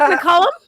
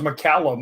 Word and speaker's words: McCallum: we'll put you first I love the fact that you actually pronounced my name right Rick mullum everybody is everybody else says mallum and it's not it's I I actually